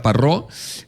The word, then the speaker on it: Parró: Aida Parró, abogada de familia. Sobre este tema, ¿qué documentos y trámites legales conviene tener en orden antes de fallecer? Bienvenida. Hola, buenos días. Acento en la O.